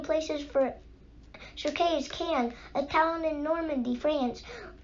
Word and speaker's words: Caen: that the burial places for Sir Kay is Caen, a town in Normandy, France. Wait, I better write that down, said Jack. He pulled his notebook and pencil into his backpack. Spell that, please. C-A-E-N, said Teddy.